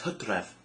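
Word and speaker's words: Hydref: something o u s OU that's how it's pronounced OU so that's August September is Medi m d e Medi okay October is HEV which also happens to be the Welsh word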